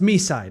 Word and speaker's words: Mi: It's pronounced Mi.